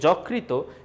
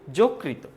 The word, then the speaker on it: যকৃত: বক্তৃতা না বক্তৃতা হবে এরপরে যকৃত না যকৃত তোমরা আগে যারা বলছো যকৃত এটা কিন্তু ভুল তাদের জন্য সঠিক উচ্চারণ বলতেছি যকৃত অনেকেই হয়তো ইংলিশে মনে